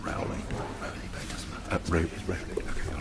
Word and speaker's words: Rowley: It's pronounced Rowley.